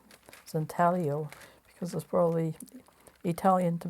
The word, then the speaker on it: intaglio: now pronunciation of intaglio I think you don't pronounce the G zintalio because there's probably Italian